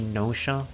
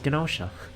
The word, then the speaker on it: Gnosia: They oh, by the way, I know with the way it's spelled with like a GN, you'd think it'd be Gnosia, like gnome. But if you actually look at the katakana, I just dropped my controller. If you look at the katakana that's on the title screen, you can see that you are actually supposed to pronounce the G, which is why I say it as Gnosia, and not Nosha.